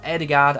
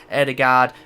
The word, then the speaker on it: Ødegaard: Martin Ødegaard, or Ødegaard as I believe it's meant to be pronounced, has obviously joined